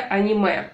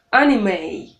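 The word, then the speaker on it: anime: Не надо говорить аним, хотя в английском языке буква и немая на конце не читается, но слово ведь это не английское, да, не американское. Именно поэтому мы должны здесь его читать не по правилам. Аниме, эй. Мы как бы протягиваем последнюю гласную.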